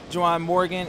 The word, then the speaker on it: Juwan Morgan: Juwan Morgan, Indiana, did I pronounce his name right? Yeah.